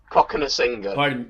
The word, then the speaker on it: Cokanasiga: think he should stick with them and maybe Coca Zalga on the bench. Is that how you pronounce his name? Cokanasiga.